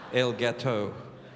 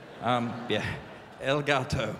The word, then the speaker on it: El Gato: Which is pronounced like that, by the way, because I got it wrong once, and apparently what I said was a cake. El Gato. El Gato, the Cat. Cat Anderson. El Gato.